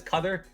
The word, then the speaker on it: Qatar: There's a big dispute how you pronounce this. This says cutter. I don't agree with that pronunciation. I agree with the pronunciation ofQatar. That's what I grew up with. Yeah. Yeah.Qatar. But it's it's borically both are correct but they're based on two different like Arabic accents.